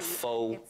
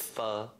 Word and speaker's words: pho: Pronouncing it wrong. So easy. Not pho, it's pho.